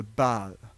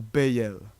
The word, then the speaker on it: Baal: Nous n'avons en fait même pas encore commencé, car c'est seulement la partie ancienne, le début de l'ancien culte de Baal, ou Béel, comme certains le prononcent.